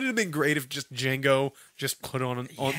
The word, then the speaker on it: Django: like making the noises the D is silent yeah okay so yeah